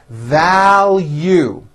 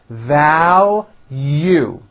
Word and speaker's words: value: speciic please be specific value there's a strong L and then a hidden y value I value our friendship